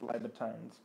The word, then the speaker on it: Libertines: It could be Libertines, but I believe it's pronounced Libertines.